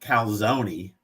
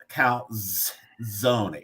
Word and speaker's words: calzone: So, calzone is the same word. It's not calzone. It's calzone. It's you pronounce the Z in calzone the same way you would in pizza.